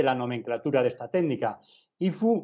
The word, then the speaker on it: HIFU: HIFU o HIFU, como se pronuncia en inglés, o FUS.